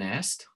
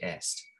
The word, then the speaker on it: est: They say est, right? It's still the same. They don't pronounce the T in French, but it's still spelled exactly the same.